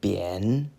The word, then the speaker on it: 贬: And our last character for today is a third tone, bian.